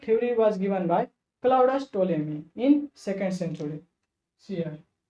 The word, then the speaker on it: Ptolemy: Geocentric theory was given by Claudius Ptolemy in 2nd century. See here. Claudius Ptolemy. He gave Ptolemy, here P is silent. Claudius Ptolemy.